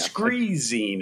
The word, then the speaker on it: Screezine: I got my Screezine. Am I pronouncing that correctly? Yeah, Screezine is how you pronounce it, correct?